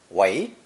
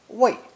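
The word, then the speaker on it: 为: It's pronounced second tone as a verb, wei, wei, and fourth tone as a preposition, wei, wei.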